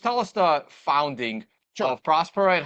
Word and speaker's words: Prospera: to how did Pro is it Prosper prospera prospera word Prosper I have been saying it right